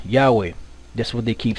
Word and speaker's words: Yahweh: It says the Greek, which comes from the old Hebrew Yahu, and the Samaritan, whatever that is, which comes from the Aramaic Yah, are not the pronunciations of the only name, which is the Tetragrammaton here, which is Yahweh.